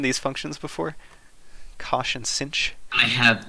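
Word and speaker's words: sinh: H on the end and they're pronounced Kosh and cinch and I've just defined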